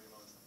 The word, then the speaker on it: Riemann: I-E is on E in German, while E-I is pronounced as I, so. Gotcha, so I am correct. It's a Riemann.